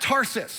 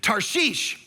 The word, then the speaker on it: Tarshish: this is first offense, it's not Tarsus. Like that's how we grew up learning. It's not even Tars-ish, it's Tarshish is how you say this.